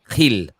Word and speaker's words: Gil: You signed this young lad, I'm going to say it right, Gil.